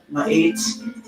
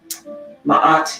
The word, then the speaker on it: Ma'at: Ma'at is the word that is mispronounced. Ma'at is how many people say it, but it is actually Ma'at. And the long A sound represents the measure of a person's character.